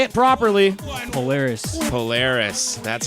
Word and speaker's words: Polaris: Polaris.